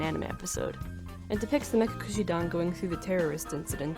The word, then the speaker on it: Mekakushidan: Mekashishidan and Mekamekadan. These are both mispronunciations of Mekakushidan by Momo.